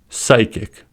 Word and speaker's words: psychic: of a word, then the P is silent. For example, pneumonia, psychic, pterodactyl.